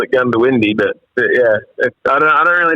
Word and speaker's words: Goondiwindi: How'd you pronounce that hometown you're from? Goondiwindi? Goondiwindi. Goondiwindi.